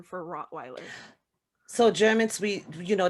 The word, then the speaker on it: Rottweiler: the weiler we say rod viola the vi it's a v it's it's you know the w in germany is pronounced as a v basically so that's why we say hot viola that's the correct german